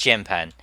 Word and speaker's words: 键盘: It's pronounced 键盘, so it's pan, pan.